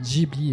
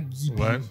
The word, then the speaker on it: Ghibli: interrogation sur le nom Jibli qui se prononce d'ailleurs Jibly et pas Gibli comme on le fait en France.